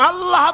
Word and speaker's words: আল্লাহ: আল্লাহ পাকের উচ্চারণটা হচ্ছে আল্লাহ পাকের নামের উচ্চারণ হচ্ছে আল্লাহ মুখটা একটু গোল হয়ে যাবে বলেন আল্লাহ আল্লাহ সুবহানাল্লাহ